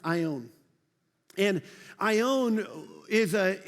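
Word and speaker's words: αἰών: and it's this Greek word right here it's pronounced I own and I own is a interesting uh word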